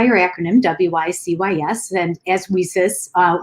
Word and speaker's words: WiCyS: acronym w-i-c-y-s and as we sis uh which is like pronounced like we sisters and so we're a